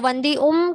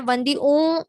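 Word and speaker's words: वंदिउं: तो वंदी उम कहना है, वंदी ऊ नहीं कहना है, ये ध्यान रखना है, वंदी उम कहना है, बराबर।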